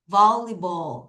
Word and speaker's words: volleyball: Volleyball 다시 뭐라고요?